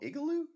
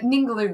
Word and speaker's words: Ningaloo: Yeah, out there, is it called Igloo? Is that where am It's I called pronouncing that right? Ningaloo Reef.